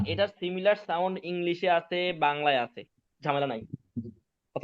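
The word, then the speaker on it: باء: sound আসে বুঝতে পারছেন এটা উচ্চারণটা তাহলে কি হবে বা কি হবে বা আচ্ছা টানবো টানতে হবে টানতে হবে টানতে হবে বা আলিফ এবং হামজা ছাড়া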